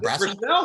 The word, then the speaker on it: Brassell: this, but Brassell, or is it Brassell? Brassell. Wow, nobody ever did that right, Paul. Well done. It's the French pronunciation.